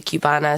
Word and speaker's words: Qbanaa: and my Cuban culture so obviously Cubana is for kubana but the way that Irish people would say a Cuban it's like pronounce it kind of like with a Q so you know Cubana